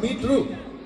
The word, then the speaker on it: meter: Meetru. Meetru. Where we come from in Bangalore, it's like meetru.